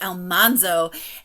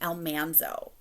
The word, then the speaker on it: Almanzo: listening to it and the audiobook narrator pronounced his name Almanzo now I never once thought that his name was elmanzo and maybe I'm wrong I don't know I've always pronounced it almondo so I didn't I